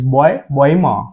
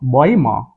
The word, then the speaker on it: Bäume: So here it is amit umlaut U, it is oe, so it is Bäume. Bäume.